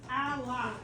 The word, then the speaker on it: ally: Very good, and it's pronounced ally. Oh. And ally. You were very I close. thought it was Ally. I-E. Well, this word is actually A-L-L-Y, so it's ally. The Y makes it.